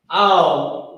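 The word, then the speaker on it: אל: Al, we know, is a word that means to or unto.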